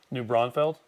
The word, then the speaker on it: New Braunfels: New Braunfels?